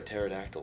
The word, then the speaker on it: pterodactyl: can't you hear a pterodactyl p because the p is silent people who are high